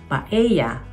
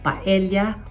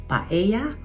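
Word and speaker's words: paella: Ang double L sa Spanish ay pino-pronounce tulad ng letter Y.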